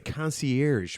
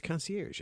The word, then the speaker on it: concierge: I've got a friend who can say the word concierge. It's concierge. It's not concier.